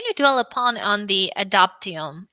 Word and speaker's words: Adoptium: Please, can you dwell upon on the adoptium? And do I pronounce it correctly? Maybe it should be pronounced. Yeah, no, you're pronouncing it correctly.